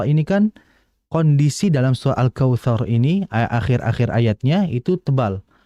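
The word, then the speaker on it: الكوثر: r-nya itu dibaca tebal maka dibaca Kautsar bukan Kautsar kalau Kautsar maka posisi pangkal lidahnya masih datar jadi caranya diangkat lagi dinaikkan ya alkautsar bukan kautar kemudian juga tadi wanhar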